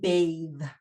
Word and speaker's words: bathe: to sound and pronunciation another example of its contribution to sound and pronunciation is in a voiced th so the difference between bath and bathe um teeth claw clothe loath breath breathe okay so uh not breath